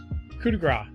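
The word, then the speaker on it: coup de grâce: couti coup de gras coup de grace that's how you say it all right yeah four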